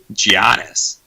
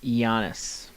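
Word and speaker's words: Giannis: to go buck love giannios we actually pronounce his name iannis because that's the correct well some of us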